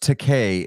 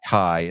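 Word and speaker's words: Takei: bad as one Stanley it's pronounced teay and it we know that because when they roasted William Shatner on Comedy Central George teay said and I quote it's not teai it's teay as in I'm gay you know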